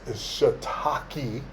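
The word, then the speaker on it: shiitake: shitaki mushrooms and yes it's not pronounced the other way that would be a bad word if you said it that way so it's shataki mushrooms almost sounds like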